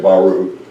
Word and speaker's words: Baru: The other thing we do out there, and this is in Baru, and that's spelled correctly, but we say Baru, is we dedicate church buildings.